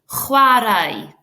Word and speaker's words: chwarae: So notice at the back of my throat for a CH, there's a can you all do that? Chwarae.